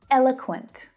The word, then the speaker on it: eloquent: Eloquent. Eloquent. So the first syllable is stressed and the other two reduce down to become the schwa sound.